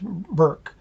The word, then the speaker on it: Berg: johannes shirk and barbara berg pronounced burke raised her 10 children